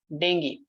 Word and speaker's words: dengue: Yes, we call it dengue. It's dengue basically, the right pronunciation.